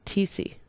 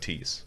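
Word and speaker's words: Thiesse: How do you pronounce her last name now? TC. TC. I was close last time. I think I said Tees. Or Close. maybe I said Thies.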